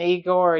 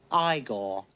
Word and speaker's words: Igor: He and Eigor are digging a grave. No, it's pronounced Igore.